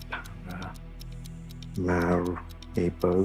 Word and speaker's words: Paramaribo: Paramaribo. Para mari bo. Is that one? That is pronounced Paramaribo.